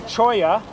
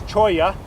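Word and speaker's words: cholla: is CH it's a choya oh I know you don't c h o l l a but in Spanish you don't pronounce the L's it's choya and uh no locals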